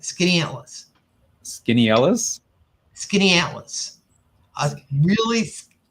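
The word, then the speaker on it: Skaneateles: Atlas by the way that is how you pronounce it skinny Atlas skinny atas skinny Atlas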